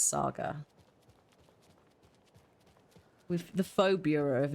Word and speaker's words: Saga: But not FBI agent Saga Anderson. Oh. I'm so glad that they've said Saga, not Sega.